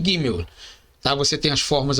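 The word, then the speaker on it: גימל: Contudo, a pronúncia correta é gimel, com o G duro, como na palavra gato.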